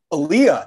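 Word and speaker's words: Elia: Number one, I was today years old when I learned how to pronounce Kazan's first name correctly. Give it to me again. Aaliyah.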